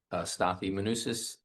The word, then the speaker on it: Stathis Manosis: Stathi Manusis, 27 Quarry Path, Stonington.